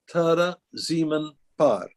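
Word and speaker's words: Taare Zameen Par: I think I think it's pronounced Tara ziemann par if I can spell it to you it is t-a-a-r-e okay z a m e e n foreign exceptionally well and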